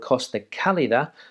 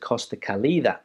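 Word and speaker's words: Costa Cálida: place down there in motifia which is called costa calida but a lot of people pronounce it costa kalida so important in my opinion to work on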